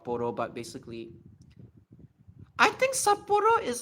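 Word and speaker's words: 札幌: No, you have to cut the sound off. Saporo. Saporo. Saporo. That's how you pronounce saporo.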